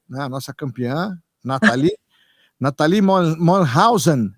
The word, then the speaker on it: Mollenhausen: A nossa campeã, Nathalie Mollenhausen. Essa é a pronúncia? Perfeita. É exatamente assim, Mollenhausen.